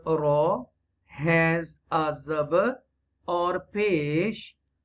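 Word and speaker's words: ر: If the letter Ra has a zabar or pesh, it is pronounced deeply.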